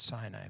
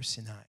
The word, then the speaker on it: Sinai: to moshe on mount sinai or some people pronounce it sinai but in hebrew sinai he said tell the people of israel when